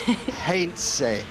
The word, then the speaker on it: Heinze: I've got to correct you on the pronunciation, because Motti will need to know this. Heinze is how he is pronounced in his country.